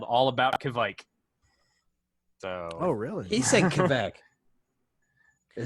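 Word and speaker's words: Kveik: He's a little bit off on his pronunciation. Kishmike. It's okay. we'll ask our in-house Swede. What, Well, I'll tell you Joel, what we're could gonna you say it again? Say it again one more time. Kvike.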